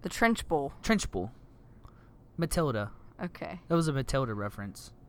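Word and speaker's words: Trunchbull: like the trenchable. The trenchable? Trenchable? It's not that many syllables. What is it? The trench bowl.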